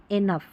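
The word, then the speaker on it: enough: तो यहाँ पर देखिए लास्ट में है GH, इसको फ पढ़ना है। लाफ, यहाँ पर इसको कफ, और ये इनफ, तो यहाँ पर GH है, इसको हम फ पढ़ेंगे।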